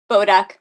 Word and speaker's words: Boduch: Oh, I forgot to ask you, how do you pronounce your last name? Boduck. Boduck. Boduck. Boduch is how I you know spell it's it, yeah. right? And it's Boduck.